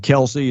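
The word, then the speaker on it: Kelce: guide the football Brothers uh Travis is it Kelsey is that the way you pronounce their name yep yeah uh supposedly Kelsey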